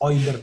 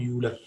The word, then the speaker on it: Euler: Name is Euler, not Euler.